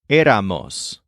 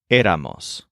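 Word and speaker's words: éramos: all of them so the word here is eramos with a syllable MOS at the end this ending is the same as the ending of the word SOS which we learned in the other scene in s so you emphasize air but end the word with MOS aamos also note that this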